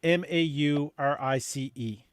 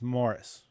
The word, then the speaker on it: Maurice: but he spells it m-a-u-r-i-c-e so we made it clear to him that it's not to be pronounced maurice it's morris you know just apologize